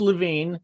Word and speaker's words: Levin: And he, it's pronounced Levine. It is spelled Levin.